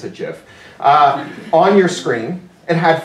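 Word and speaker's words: GIF: that you could animate glittery unicorns ifs I pronounced a jiff on your screen and had four instructions to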